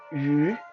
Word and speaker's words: 鱼: Yu Y-O-U. Uh, it well, on paper it looks like it's a U, but it's pronounced yu.